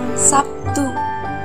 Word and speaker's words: Sabtu: Contohnya itu kata Sabtu dalam bahasa Indonesia lazim diucapkan Sabtu dengan P.